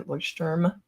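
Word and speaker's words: Leuchtturm: This is just a Lordm, that's how you pronounce it, uh, notebook that's numbered.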